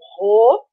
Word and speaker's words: rho: Onde a resistência é igual à resistividade do material, e essa letra que é uma letra grega que a gente pronuncia como Rho, ok?